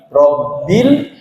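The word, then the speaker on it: ربِّ: dipantulkan oleh karena itu pengucapan huruf lam bersyukur lam sukun ini tidak boleh dipantulkan roh bin rabbil langsung masuk ke airnya ya jangan Rabi kadang kita ada yang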